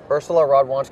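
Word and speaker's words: Urszula Radwańska: Hamilton here alongside matek Sova uh coach of Ursula Rod wanska the number 37th ranked player in the world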